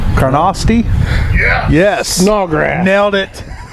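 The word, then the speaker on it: Carnoustie: we at Lloyd what's it how do you pronounce that CA are in owe us di e Karnofsky yes no Greg nailed it all grass nailed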